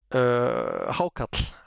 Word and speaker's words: hákarl: Give us, I know what it's called, but give us a correct pronunciation of the fermented shark. Hákarl, hákarl.